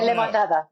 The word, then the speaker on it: Lemonada: Even though Spotify dropped her, I guess it's Lemonada Media Yeah. You say Lemonada. Yeah. That's the way you pronounce it.